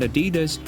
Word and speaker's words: Adidas: shoes could do the same to Puma and Adidas, which were at the time extremely popular in America.